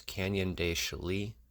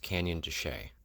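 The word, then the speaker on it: Canyon de Chelly: point out that for the entire video I pronounce Canyon de Chile incorrectly it's actually pronounced Canyon duchet I apologize for that you're going to hear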